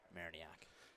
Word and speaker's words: Mariniak: No pronunciation on Mariniak. Gotta say it how it's spelled.